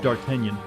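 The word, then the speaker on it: d'Artagnan: no it's you know the french name is pronounced dark kenyan uh but i didn't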